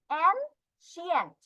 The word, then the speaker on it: ancient: ওল্ড, ancient, not scient, ancient, she হবে উচ্চারণ, ancient.